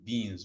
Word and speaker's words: Wien: Some people, they call it Wien's because in German, the W is pronounced V, okay?